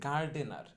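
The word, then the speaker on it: gardener: আমরা সবাই এটাকে গার্ডেনার বলে ডাকি, কিন্তু সঠিক উচ্চারণটা হবে গা ডে না। আমি কিন্তু ভেঙে ভেঙে বলতেছি যাতে আপনাদের বোঝার সুবিধা হয়। সঠিক উচ্চারণটা গার্ডেনার না, সঠিক উচ্চারণটা হবে গার্ডেনা।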